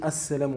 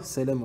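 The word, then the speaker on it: السلام: On doit prononcer assalamu, on ne dit pas salamu alaikum. Salamu alaikum. Là c'est indéterminé.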